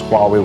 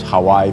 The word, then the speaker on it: Huawei: At that time, I didn't know how to pronounce Huawei well. It was Hawaii, maybe something like this.